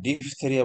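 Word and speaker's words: diphtheria: ডিপথেরিয়া এক প্রকার রোগ, পিএইচ কিন্তু এইচ এর উচ্চারণ নাই, ডিপথেরিয়া বলা যাবে না, দিস ইজ ডিপথেরিয়া মনে রাখবেন।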